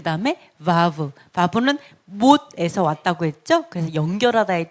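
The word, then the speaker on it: וו: 그 다음에 바브는 못에서 왔다고 했죠. 그래서 연결하다의 뜻인데 6번입니다. 6번. 그래서 이거는 바브 해서 비읍 발음이 납니다.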